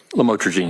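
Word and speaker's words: lamotrigine: drugs about the u the lam otherwise known as lamatroine. Did I pronounce that right? Lamotrogene. Yes. Motine and and she said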